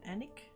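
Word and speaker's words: Alnwick: up at the white swan hotel in uh pronounced anik northumbria everything let's go i'm glad somebody had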